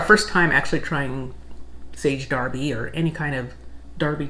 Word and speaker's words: Derby: our viewers for letting us know that it's pronounced darby because looking at it for us d-e-r-b-y we would say derby so that was very